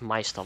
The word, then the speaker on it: Meister: Is it Meister? Is that how you say it? Yeah, it's Meister Llama.